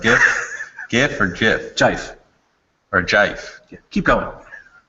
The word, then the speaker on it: GIF: JIF.